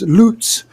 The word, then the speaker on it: Lutz: think and I think in German it's loots uh Spruce is uh